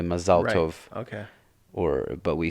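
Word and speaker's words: מזל טוב: They kind of, like, for instance, Mazel Tov is really Mazal Tov.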